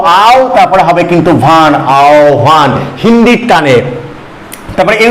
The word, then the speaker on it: আহ্বান: আ আ ও আও তারপরে হবে কিন্তু ভান আও ভান হিন্দির টানে তারপরে এর উচ্চারণটা কি হবে আ হয় বয়টা তাহলে আও